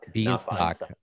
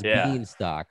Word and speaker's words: Bienstock: name, but we didn't talk about how to pronounce mine, which is actually Bienstock. Bienstock. Yeah. I saw your face when I said that. I was gonna take a guess. So it's Bienstock.